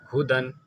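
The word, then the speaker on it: هُدًى: ये या नहीं पढ़े जाते, ठीक है, या साइलेंट है, कोई काम के नहीं है, ठीक है, ये ऐसी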